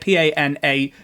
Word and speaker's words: panache: guys the plume on the helmet is called a posh I think that's how you say it p-a-n-a-c-h-e Panache panache I don't know however you say that um yeah Richard if